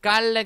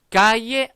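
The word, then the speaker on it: calle: 지도입니다 마드리드 치 근데 까이에 아리의 따라고 발음을 해 주셔야 된다는거 자여 이 부분이 깔레 가 아니라 아까 이제 라고 발음이 난다 그래서 까이에 a 이해했다 라고 발음합니다 자 다 같이 한번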